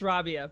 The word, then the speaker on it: Rabiah: guest today we have rabia kuhn um did i pronounce uh your name right it's uh it's rabia but that's okay rabia rabia awesome so rabia